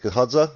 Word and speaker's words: Gahadza: Did I just to double check, I pronounced your surname right here, is it Gahadza?